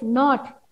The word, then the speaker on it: knot: So knob, knife, knot, nil, knit, knee. So few words are there. Here K is silent. This K letter is silent. Silent means we don't pronounce that.